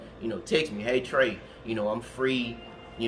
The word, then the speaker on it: Treś: Yeah, and it's just Trey. It's spelled TRES, but my legal name is Trey.